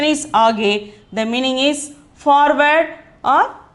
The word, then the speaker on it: आगे: The pronunciation is आगे.